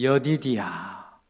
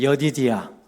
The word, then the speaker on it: 여디디야: 여디디야. 한번 따라해 보십시오. 여디디야.